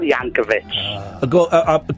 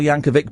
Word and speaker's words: Yankovic: A bit of Weird Al Yanovic. Can I Can I correct you? Yes. It's a hard C. Weird Yanovic. He's been on the show a couple of times. It's Weird Al Yankovic, but we love Weird Al.